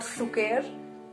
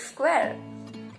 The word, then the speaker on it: square: Then I said, so please pronounce it as square. It's not sukher, it's square.